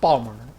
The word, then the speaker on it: Baltimore: calls it bore uh Baltimore one syllable Balmer this a secret to speaking the local accent everything is one syllable my my my friend's